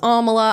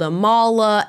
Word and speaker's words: Amala: y all know it my name is Amala I get called aala Amala you name it anything under the sun